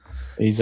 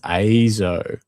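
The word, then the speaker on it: EIZO: Oh, it's pronounced EZO. That's okay. Not EZO, despite the fact that it's pronounced with an E.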